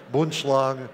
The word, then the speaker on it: Boomslang: Actually, it's pronounced Boomslang.